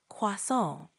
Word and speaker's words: croissant: Croissant. Pretty close. Try emphasizing the nasal sound at the end a bit more, like croissant.